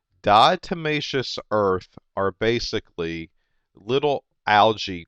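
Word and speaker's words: diatomaceous: times it's something that we refer to as dietmatious earth. Okay? Now, if I wanted to spell that d i a t o n a c e o u s dietmacious dietmacious earth are basically little algae critters that have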